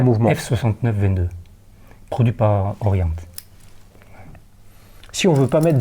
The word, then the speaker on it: Orient: le prononce différemment donc on va se mettre d'accord c'est Orient Orient voilà Ori avec un petit truc à la fin euh ok est-ce que